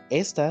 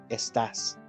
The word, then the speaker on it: estás: The difference in the writing is that the second one would have the accent on the A. Estás. But this one is estas.